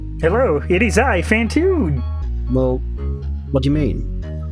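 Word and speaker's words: Phantoon: so who are you i am fantune it rhymes with cartoon and i am also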